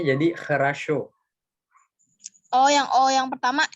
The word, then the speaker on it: хорошо: Bacanya jadi хорошо. Oh, yang pertama E ya? Iya, O yang pertama jadi kayak huruf E dibacanya, yang kedua jadi A, yang kena stres dia tetap jadi O.